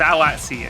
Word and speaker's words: AWDSE: I've been told by chat it's actually pronounced Awat C22. No. Okay. Wait, so I would see 22? Apparently. I don't know if it's supposed to be a joke, but it was from Prehistoria, who's on the Singapore team, so I would assume they're not, I think it's important to get people's name pronunciations right. No, absolutely, absolutely. Awatsi. Yes, it's Awatsi, according to...